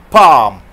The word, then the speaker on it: palm: Palm. So give a speech pronouncing the L sound.